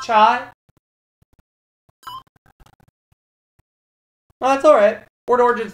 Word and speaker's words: cha: It was spelled C-H-A, but it's pronounced chai.